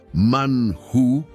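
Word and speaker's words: מן הוא: Que en hebreo bíblico se pronuncia manhu, tal como lo vimos en la porción de la Torá antes descrita.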